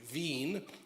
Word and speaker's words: Wien: I'm very fortunate to be here this month in Wien, or in English, we would say Wien. Vienna is a word. We don't know in English that the W is pronounced like a V.